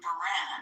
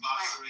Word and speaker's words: Bahrain: East, Israel, Saudi Arabia, Qatar, the UAE, Kuwait, and Bahrain."